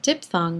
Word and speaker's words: diphthong: We pronounce it diphthong, but we spell it ph.